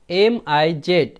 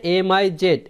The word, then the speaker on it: Ms: মানে ব্যবহার করা, মিস, MS দ্বারা উচ্চারণ বোঝাচ্ছে MIZ, মিস।